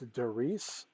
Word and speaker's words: Darice: is made by a company i believe it's pronounced darice d-a-r-i-c-e it's the my boutique organizer elite series